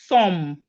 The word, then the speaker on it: thumb: The B in thumb is silent.